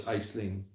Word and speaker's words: Aisling: Or it's Aisling. I don't think you pronounce the S. I don't think you do.